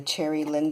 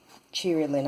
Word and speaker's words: Cheery Lynn: little doily is a cherry Lynn die cheery Lynn I should say that's how you pronounce it and on the top